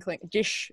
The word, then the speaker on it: Klingon: And that's how you say it in Klingon. They have a little bit more of a sh with the S sounds.